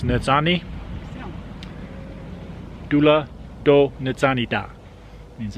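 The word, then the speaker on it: nizhóní: and Navajo means beautiful I think it's pronounced nits Omni doula dole nitsana da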